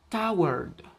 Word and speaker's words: toward: Ahora tenemos toward, sigue la misma regla, la WA antes de la RD, toward, que significa hacia.